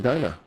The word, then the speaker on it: Dinah: It's Dina, not Dinah. Phonetically, Dina. Right? We've been saying it wrong.